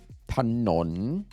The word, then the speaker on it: ถนน: Thanon.